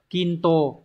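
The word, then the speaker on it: 均等: Quân và chữ đẳng từ này đọc là kinto kinto cả quân và đẳng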